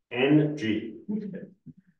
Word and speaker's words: Ng: That is actually how you're supposed to pronounce it as well. NG.